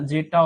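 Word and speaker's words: zetta: है जेटा और योटा जेटा spelling mistakes हो सकती है है ना जेटा और योटा बट ऐसे प्रोनाउंसिएशन यही है और न्यूमेरिकल वैल्यू भी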